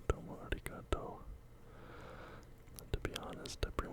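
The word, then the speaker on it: ありがとう: And the R here, your pronunciation, a lot of people think it's arigato, but the way you pronounce the R here is sort of just quickly touching the tip of your tongue to the back of your front teeth. Arigato, arigato gozaimasu.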